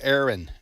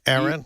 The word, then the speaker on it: Erin: The By the way, the hurricane's name is Aaron. Aaron.